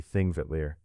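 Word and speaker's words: Þingvellir: The first of these is Thingvalier National Park, a place where history and geology rest together in the same wide valley. The name thing is pronounced roughly Thingvetier and it means assembly fields.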